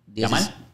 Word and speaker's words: Yamal: nombres están bien malos eh qué lam lamine se escribe lamine llamar con y Llamar ese el apellido el apellido el apellido lam llamal llamal 16 añitos Okay cuando él metió ese